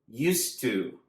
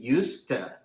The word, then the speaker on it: used to: Notice the pronunciation "ustu" or some people say "usta". It sounds just like one word "ustu" "usta".